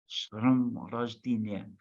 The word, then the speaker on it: С днем рождения: I tried to learn how to say Shnum Rozdinia. It's not easy to pronounce, so You say it. You say it. С днем рождения. Shrom Rojdinya.